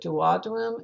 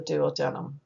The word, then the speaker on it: duodenum: the country you are some people will pronounce it as the duodenum and others will pronounce as the duodenum it just different areas have different pronunciations of it but that